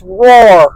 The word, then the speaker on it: Rohr: I couldn't remember how to pronounce it. Thank you, Bonnie. It's Rohr.